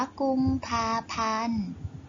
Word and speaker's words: กุมภาพันธ์: ตัว การันต์ กำกับ อยู่ กุมภาพันธ์ ขอ ธง กะลาน อ่าน ว่า กุมภาพันธ์ หนังสือ พิมพ์ พ.